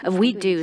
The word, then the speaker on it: WEDU: is w w-e-d-u and the pronunciation we do sounds like we could do it so it really